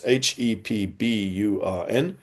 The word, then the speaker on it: Hepburn: Powles also has stressed that missionaries led by the Americans, James Curtis Hepburn, that's Hepburn, 1815 to 1911, the